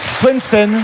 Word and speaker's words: Swendsen: Parce qu'on prononce Swensen.